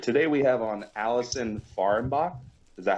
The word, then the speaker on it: Allison Fahrenbach: All right, today we have on Allison Fahrenbach.